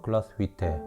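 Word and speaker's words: Glashütte: 글라스 휘테 오리지널의 유니온 글라스 휘테, 이게 본토 발음이라고 하네요.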